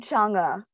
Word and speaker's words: Chang'e: I'm Chang'e.